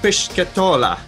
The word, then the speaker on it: Pischetola: Pischetola.